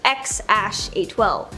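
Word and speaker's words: X Æ A-12: is X something or apparently it's pronounced x812 the internet was Up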